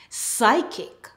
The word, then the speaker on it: psychic: When you see PS in a word, the P is silent. PS says S.